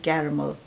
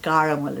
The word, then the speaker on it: caramel: हम कहते हैं कैरमल. both British and American, caramel, it's caramel, it's not caramel, right.